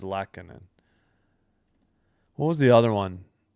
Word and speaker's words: Lehtonen: I'm not confident in Lehtonen. Lehtonen. Okay, I got to emphasize the Leht. It is Lehtonen.